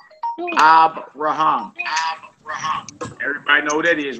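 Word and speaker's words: אַבְרָהָם: is that like a okay ACC on the last uh this right here the first word to right that says abam abam everybody know who that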